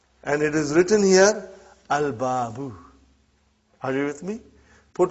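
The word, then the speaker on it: الباب: I did pronounce Lam. But if the next letter is Ba. And it is written here, Al-Babu. Are you with me? Put Waw in front, you will say Wal-Babu.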